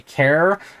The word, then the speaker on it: char: whatever after and then any time I say care uh that's c h a r I'm trying to do it like how I say it like character um their purpose is